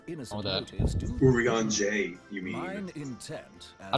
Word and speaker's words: Urianger: It's like Tarjay. It ends in like a ah No.